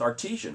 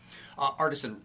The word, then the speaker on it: Artisan: Geoff Nowlin is with Artesian, right, Geoff? Artisan Real Estate Group, yes, sir. Okay, that's how you say it in English. That's right.